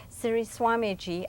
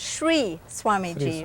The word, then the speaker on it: Sri Swamiji: very honored to have Siri Swami G I'm sorry the pronunciation is Shri Swami G right Shri Swami G